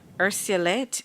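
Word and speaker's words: urceolate: This vase or vase is ursulate in shape. May I have the language of origin? Latin. Am I pronouncing the word correctly?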